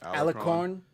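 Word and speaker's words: Alarcón: Alarcon.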